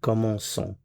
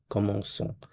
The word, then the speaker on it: commençons: And the reason why we do that is to preserve the S sound. The c'est cedi gives you that S sound. So we have commençons, commençons.